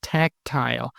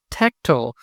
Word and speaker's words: tactile: In British English, the word is pronounced tactile. In American English, a reduced form, tactile, is pronounced. The same pronunciation difference crops up in several other words ending in "ile," such as sterile, agile, and fertile.